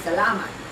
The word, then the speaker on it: salamat: Oh, that one is salamat. That's on the second syllable.